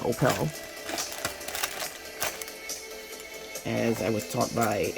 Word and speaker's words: Opel: And that is the way it's pronounced, Opel. As I was taught by a Swedish young lady I knew years ago, that is the way it's pronounced in Europe.